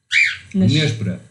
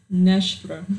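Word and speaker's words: nêspera: Nespera. Nespera. Nespera. Nespera. Nespera. Just break it down in syllables.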